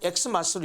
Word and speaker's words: Xmas: x 헬로 알파벳으로 표기하는데 사실 그 엑스 마스터로 읽으면 안 되거든요 그거 역시 크리스마스를 읽어야 맞거든요 그런데 오늘날 사람들은 그게 무슨 의미인지도 모르고 그냥 xmas를 읽어요 언제부턴가 그 엑스